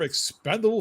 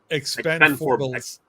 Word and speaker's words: Expendables: the first trailer of Expendable 4, and No, you got to say the name right. Expendables. Yes, thank you. If they're gonna write it like that, we're gonna say it like that.